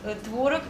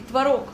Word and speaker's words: творог: И творог, и творог. И это тоже правильно.